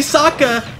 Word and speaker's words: Saka: got the hammer Boomerang call me Saka rhymes with AKA ladies I rocked you